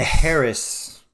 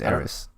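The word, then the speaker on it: Heiress: The Harris or Eris. Eris. I think it's Eris. Okay, the H is silent.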